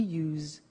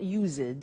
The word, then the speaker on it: used to: don't have now we use used to look at the spelling s it's it's u e d and then t o but the pronunciation is not used it's us unusual used okay so the